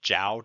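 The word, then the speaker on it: Zhou: look at is the Jiao Dynasty yes it's pronounced like that though it's actually sometimes pronounced more like Joe don't worry about it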